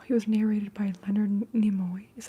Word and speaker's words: Nimoy: He was narrated by Leonard Nimoy.